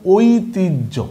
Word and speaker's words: ঐতিহ্য: আর হয়ের সাথে যদি জফলা থাকে, এটার নাম জফলা, হয়ের সাথে যদি জফলা থাকে তখন উচ্চারণটা হয় ঝ, ঠিক আছে? তাহলে কি হয়? ঐ তয়র স্বীকারতি ঐতি হ জফলা ঝ, তার মানে শব্দটা হইল ঐতিহ্য।